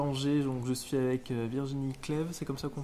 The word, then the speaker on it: Virginie Cleve: day ici à anger donc je suis avec Virginie CLEV c'est comme ça qu'on prononce c'est comme ça qu'on prononce gérante donc